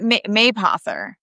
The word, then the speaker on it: Mapother: People wouldn't constantly be asking me how to say No, Mapother. but Mapother.